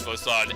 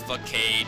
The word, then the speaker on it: Facade: TM42 contains Facade, and yeah, and no, it's not pronounced Facade, it's pronounced Facade. I used to pronounce it Facade, but now I know better.